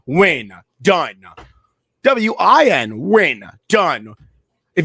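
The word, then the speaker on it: Wynn: It's like somebody whose last name is Win and they spell it with an N. Why? W-Y-N-N. Win.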